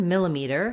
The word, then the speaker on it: millimeter: how to pronounce millimeter the word millimeter has four syllables and the stress falls on the first syllable mill in the dictionary you're